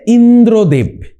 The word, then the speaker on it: ইন্দ্রদেব: তারপরেরটা দেখো কি রয়েছে ইন্দ্রদেব ইন্দ্রদেবের উচ্চারণটা তোমরা একটুখানি ভালো করে এবার লক্ষ্য করো কি হবে ইন্দ্র দেব ঠিক আছে মানে ইন তারপরে কি পাচ্ছি দ্রো তারপরে কি পাচ্ছি দেব ঠিক আছে তাহলে প্রথমে